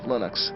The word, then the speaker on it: Linux: lonus and I really don't care how people pronounce my name but Linux is always Linux he developed a kernel and